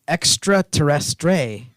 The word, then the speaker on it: extraterrestre: By the way, it's extraterrestre. That's how you say it. That's how you say it in French.